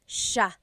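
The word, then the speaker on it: siya: So the s i y it's a sha sound. Sha. And then another thing I want to point out about the subject pronoun sha is that it is genderneutral.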